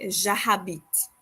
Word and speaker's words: j'habite: En français, on ne prononce pas la lettre H. In French, we do not pronounce the letter H. Et alors, we don't say j'habite, okay? That is wrong. We say j'habite. So we pretend like the letter H doesn't exist, you know?